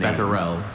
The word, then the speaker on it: Becquerel: Becquerel. Thank you. Could I please have the definition? Becquerel and Becquerel are the two pronunciations, Becquerel right?